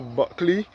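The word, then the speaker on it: Bulkeley: You can see the former Buckley Sugar Factory. Buckley is spelled B-U-L-K-E-L-E-Y.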